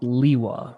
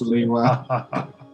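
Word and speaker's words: Lewa: It's pronounced Liwa, right, guys? Yes, it's pronounced Liwa. We have it on record.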